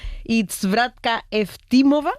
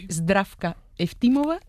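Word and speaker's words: Здравка Евтимова: Ayúdanos a pronunciar los autores. A ver, Georgi Gospodinov, Zdrafka Eftimova y Vera Mutavchieva. Ahora sí, ahora sí. Perfecto.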